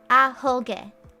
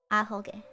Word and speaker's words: Ahoge: I said the first syllable but stopped, alright? It's Ahoge. Okay. Ahoge.